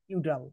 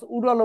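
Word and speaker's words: Udall: এর লেখক হচ্ছে নিকোলাস ইউডাল নিকোলাস ইউরালভা অনেকে উচ্চারণ অন্যভাবে করে থাকে নিকোলাস উডালো বলে থাকে যাই হোক নিকোলাস ইউডালের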